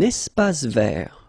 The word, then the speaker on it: espace vert: Un espace vert. First thing, you've got this little link between the two. Un espace vert. Final E not pronounced, and then final T not pronounced.